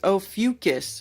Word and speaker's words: Ophiuchus: Ophiuchus.